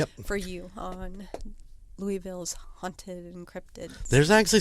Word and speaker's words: Louisville: Is it Louisville or Louisville? It's Louisville. Louisville. Louisville. I can't even say.